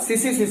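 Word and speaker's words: tsetse: TSE, T silent रहेगा बच्चों, इसमें TSE है, बीच में हाइफन है, फिर TSE है, तो इसको TC मत पढ़ना, CC पढ़ सकते हो।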